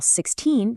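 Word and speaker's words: sixteen: In American English, 60 takes the stress on the very first syllable, while 16 takes it on the second.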